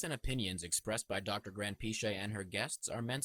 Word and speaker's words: Granpeesheh: So the right way to actually pronounce my name, because my name is Iranian, is Granpeesheh.